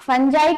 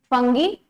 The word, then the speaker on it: fungi: हाँ, fungi can be pronounced as both. Fungi, some people call it fungi and some call it fungi.